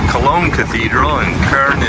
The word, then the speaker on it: Köln: Or I should say Cologne Cathedral, and Köln is how they say it in German here.